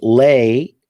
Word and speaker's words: lay: And lay rhymes with place, or sounds similar to place. And so you lay an object down, you place an object. And you lie, sounds like recline. So you lie down. So you recline on something.